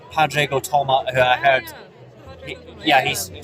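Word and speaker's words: Tuama: That was Nadia, and also a guy called Padrego Toma, who I heard... he's... Is that how you pronounce it, or are we murdering some Irish pronunciation? Probably murdering a bit. Tuma. No, it's not a tumor.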